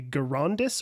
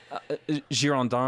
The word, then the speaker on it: Girondins: And if I'm not mistaken, the opposing political force was I want to say it's pronounced the Girondis or Girondis. Girondins. There we go.